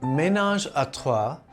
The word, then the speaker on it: ménage à trois: Ménage à trois, pronounced ménage à trois in French, literally means household of three.